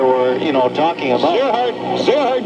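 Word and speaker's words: Gerard: Zerhard Gallant is a correct pronunciation. Okay, if you want to put the French pronunciation to it, Coach.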